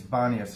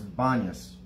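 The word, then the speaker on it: Banias: ancient ponies uh in in arabic it's banis everybody over there calls it that there's no p in arabic so they change the p to a b and it's not pineas anymore it's bonus says it on all the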